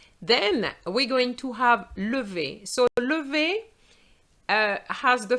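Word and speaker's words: lève: have the uh because remember the er without an accent is silent so it would mean that you have no sound you would just have lv and lv without a vowel is very difficult to pronounce so we're going to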